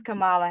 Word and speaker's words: Kamala: all that congratulations to joe biden and miss kamala harris president pamela harris kamala kamala don't be